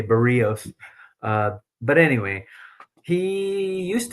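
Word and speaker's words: Berríos: Now, I like Barios. Uh, oh, people are going to say you're pronouncing his name wrong. Okay, Bereos.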